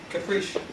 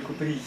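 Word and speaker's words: Kuprij: Caprice. Caprice. Вот какое там. You're laughing at my pronunciation. Would you like to improve upon it? Yes, because it's Vitaly Kupri.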